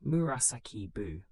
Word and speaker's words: Murasaki Shikibu: It was written by Lady Murasaki Shikibu, pronounced Murasaki Buu around the year 1000.